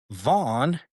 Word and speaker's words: Vaughan: And the deputy district attorney that dismissed the criminal investigation is named Andrew Vaughn, and it's spelled Vaughan, not just GHN.